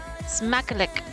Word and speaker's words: Smackalichk: So bedankt The last part is lick. Smack a lick.